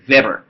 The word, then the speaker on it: Weber: This guy is not named Weber. It's Vber. Vber. It's a German dude.